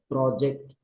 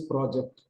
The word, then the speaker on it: project: it's a now okay project project the object on the screen now this becomes a verb correct good V gu three so without change in spelling just the pronunciation changes project the object on the screen I have not completed my project you would not say I have not completed my project no give me some words